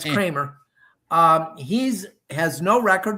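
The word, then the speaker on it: Kremer: It's spelled K E M E R, so I kind of want to say Kmer, but it's Kramer.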